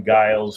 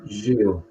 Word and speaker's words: Gilles: It's Gilles. Je m'appelle Gilles. But they just say Gilles.